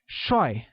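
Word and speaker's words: 帅: say handsome in Mandarin handsome translates as choy which is said with the falling tone like SROI now let's look at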